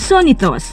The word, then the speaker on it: Sonny Thoss: Si Joachim Gunther, or kilala bilang Sonitos, ganun kasing pagkakabigkas sa German language ay isang Filipino-German na pinanganak sa Port Moresby, Papua New Guinea, December 7, 1981.